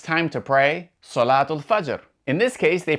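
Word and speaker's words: صلاة: But, if you do pronounce its haraka, then it will be pronounced like the letter T, or the Arabic ta.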